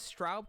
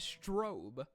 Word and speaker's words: Straub: She says Straub correctly here, but in the Darkest Shores outro cutscene, she pronounces it as Strobe.